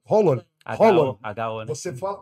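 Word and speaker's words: Haaland: a nacionalidade dele é Holland é com o o neto fala Holland Holland holl você fala você fala quase na garganta o a que vira um hollon assim e o neto fala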